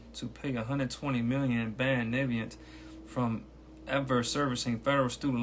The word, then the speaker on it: Navient: okay this is about is pronounced naviant I pronounce correctly to payback student loan